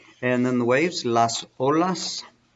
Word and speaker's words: olas: then the waves las olas there's no H on there it's not like you